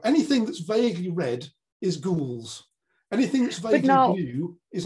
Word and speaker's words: gules: is when you say gules, which is just red, and it's, you know, it looks kind of French, but it's pronounced in the English way.